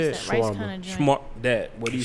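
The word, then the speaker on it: shawarma: Shwarma. What do you say? Shwarma.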